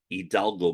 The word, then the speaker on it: Hidalgo: At that point, I made a decision to move down here to Hidalgo County, Texas, or as natives say, Hidalgo County, because Mexicans don't pronounce the initial H.